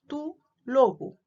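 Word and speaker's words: τοῦ λόγου: Cuando está en genitivos, tu logo.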